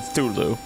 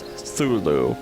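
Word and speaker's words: Cthulhu: it right it's like I think it's somewhere between the cha and the T sound Zulu so I I can't hit it either way and we've got we've got we've got thulu here scary scary star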